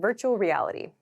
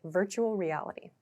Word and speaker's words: virtual reality: At native speed this sounds like virtual reality. So, these r and l sounds kind of connect, virtual reality.